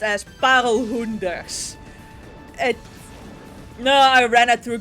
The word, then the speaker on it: parelhoenders: That is pronounced as parelhoenders.